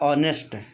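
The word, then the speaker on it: honest: लेकिन इसका हायर उच्चारण नहीं होता समय यह साइलेंट होता है जैसे कि यहां पर आपका ऑनेस्ट कुछ बच्चे इसको फॉरेस्ट पढ़ते होंगे इस टेस्ट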